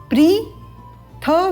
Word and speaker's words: पृथिवी: जंतन माता जंतन माता पृथिवी यहां पर हम ध्यान देंगे प्री प के नीचे री प्री थ में इ का स्वर है तो प्रीथी तद उपरांत व प्रीथि